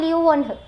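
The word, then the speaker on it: Leeuwenhoek: अभी आप इसको यहाँ पे एक बार प्रोनाउंस करो मेरे साथ और लिख के भी देखो, एंटोन वॉन ल्यूवेनहुक, ठीक है, ओके।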